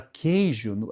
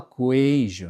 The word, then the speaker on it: queijo: Só que tem a questão eh de, por exemplo, se no no caso a palavra queijo, a gente não fala coeijo, né?